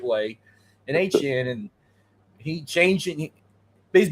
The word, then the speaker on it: Etienne: this year, like, and they got ATNs or HN, that's how you say his name now. He made it clear, HN, right?